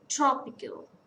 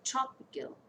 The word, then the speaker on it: topical: on second syllable specific topical this is a little syllable word first stress falls on the first syllable topical typically it's a four-syllable